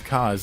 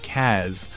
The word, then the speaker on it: Kaz: I had said that David pronounces Casas cause instead of Kaz throughout all of Peace Walker and portable ops but there are occasions where he accidentally slips in Kaz instead of cause who knows why but